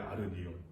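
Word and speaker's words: ἀρνίον: 아르니온. 다 붙여서 아르니온이라고 읽어야 되는데, 다 붙어 있어야 되는데 이렇게 떨어지고 막 붙어 있고 해가지고서 아르니온.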